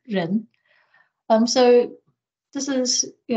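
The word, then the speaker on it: 仁: of humanity or benevolence in Chinese pronounced as Ren um so this is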